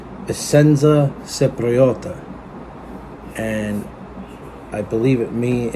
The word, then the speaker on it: Essenza Cipriota: Of course, it is pronounced Essenza Cipriota, and I believe it means in Italian.